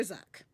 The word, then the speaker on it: Zuck: But I prefer Zuck because it rhymes with fuck.